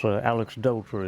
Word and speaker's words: Aleksdóttir: Yes, Aleksdóttir, if I'm not mistaken. Is that how you pronounce it?